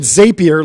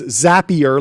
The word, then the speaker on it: Zapier: what did I call I called it Zapier like a rapier for a long time and then and then people were telling me that's wrong and so I started calling Zapier and then I learned that was wrong. But it's Zapier like Snapier, right?